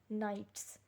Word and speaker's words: knights: are known as knights the k is silent and it is known as knights night means the soldiers